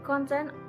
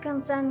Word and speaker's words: content: For every noun, the word is stressed on the first syllable.